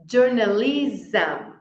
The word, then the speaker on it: journalism: Vamos repetir Iron as palavras terminadas em SM a gente quer pronunciar tipo não sei muito bem como que os querem pronunciar mas o termina com som de z socialism journalism Então repete aím socialism journalism